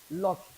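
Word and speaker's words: lough: Lock. They pronounced the same way. Lock. The gh there is lock. Lock. That is an inlet of water.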